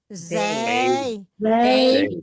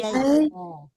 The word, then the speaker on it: Zay: Zay. Bacanya Zay ya, bukan Jay.